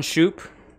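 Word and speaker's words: Shupe: asking now what your name is sir shoop uh last name is spelled s-h-u-p-e s-h-u-p-e yeah yeah shoe i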